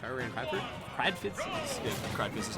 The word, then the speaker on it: Kradfiz: So I guess if I were in Kradfiz, Yeah, Kradfiz is how you say it.